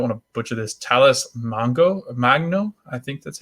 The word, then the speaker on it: Magno: Talis Magno. I think that's how you say it. Magno. I wanted to say Mango. I always thought that it was Mango, but it's Magno.